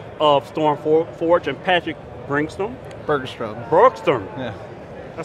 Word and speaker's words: Bergstrom: Bergstrom. Yeah. I spelled it right, I didn't say it right. Bergstrom.